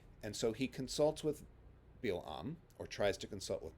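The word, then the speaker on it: בִּלְעָם: is usually pronounced is balaam among english-speaking bible readers his hebrew name is bill um the stress at the end and with an i instead of an a sound and bilam appears to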